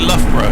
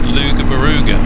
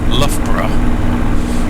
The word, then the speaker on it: Loughborough: from Australia visit, and they thought Loughborough was pronounced Luga-Baruga. Which actually, if you're Australian, it probably actually makes more sense than Loughborough when you see how it's spelled.